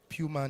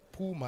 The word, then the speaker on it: Puma: Puma International, yes, not Puma as we always say, but Puma is the preferred pronunciation of the entity.